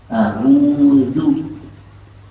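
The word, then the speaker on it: أَعُوذُ: Jadi ya, a'udzu, jangan pakai dha, a'udzu, bukan. A'udzu.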